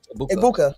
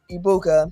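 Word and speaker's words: Egbuka: Because for me, it's uh Ibuka because the G is silent in his name. Like lasagna, it's silent. Ibuka.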